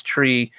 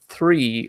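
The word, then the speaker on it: three: 3 as a joke, because that's how Irish people pronounce tree. But I've been like, I keep trying when I'm making videos to make a conscious effort to pronounce it 3, like with a TH, like you're meant to.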